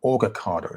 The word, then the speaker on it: Orgacado: So it's organic avocado. So Orgacado, that's it. Orgacado, that's how you pronounce it.